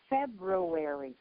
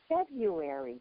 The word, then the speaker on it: February: I'm wondering when are your reporters, your news people, and your anchors going to learn how to pronounce February? It's not February.